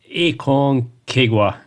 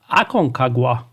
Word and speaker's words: Aconcagua: delay the unavoidable and pronounce the name of the game which is aong Kwa no that's not right it should be Akon kaga with that's over let's